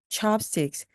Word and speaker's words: chopsticks: chopsticks. 끝부분에 s가 반드시 나와야 됩니다.